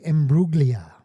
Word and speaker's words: Natalie Imbruglia: Tell them what we're listening to, because I honestly don't know what this is or how to pronounce it. Natalie Imbruglia.